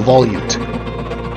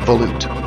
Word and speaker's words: volute: as some people like to call it the Volute I'm going to tell you I checked the Mariam Webster website and they claim that it's pronounced Volute so that's what I'm going with it was